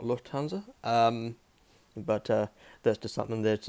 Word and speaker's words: Lufthansa: Of course, Luft is meaning air in German, and Hansa. So Hansa is meaning is standing for the Hanseatic League. So again, the airline is technically meant to be pronounced Lufthansa, not Lufthansa.